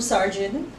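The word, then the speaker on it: Sargent: Every year, Blue Sergeant, that's how you pronounce that word, stands next to her clairvoyant mother as the soon-to-be dead walk past.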